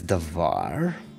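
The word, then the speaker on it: דָּבָר: It's read as davar.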